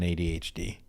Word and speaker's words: ADHD: situation by putting on ADHD. ADHD. And I also say it like an Italian waiter. You do. You put emphasis on the H.